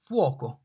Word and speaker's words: fuoco: F, fuoco. The F here is pronounced like F in father, father, F, fuoco, father, fuoco. Sounds exactly the same.